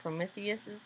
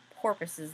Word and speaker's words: Prometheus: vultures down to eat prometheus's liver in Ben's nervousness he mispronounced Prometheus so what he actually said was that Zeus sent vultures down to eat porpuses liver Mary Lou invited both